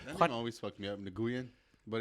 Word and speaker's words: Nguyen: Vietnam and you like actually like hear the accent, they say it like very smoothly. They actually say Nguyen, but it sounds like Win.